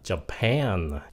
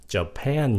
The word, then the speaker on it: Japan: ví dụ nữa nha chữ này là Japan Japan nhấn âm 2 mà Cái chữ Japanese